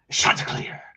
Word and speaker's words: Chanticleer: Old Dominion Monarchs, Chanticleer. That's how you have to say it. You gotta really pronounce the sha.